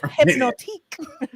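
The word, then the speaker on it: Hpnotiq: But if you read it phonetically, it's hypnotique. Oh wow!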